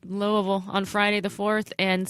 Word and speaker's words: Louisville: Louisville you're welcome because I said it right Louisville on Friday the 4th and Cincinnati on Saturday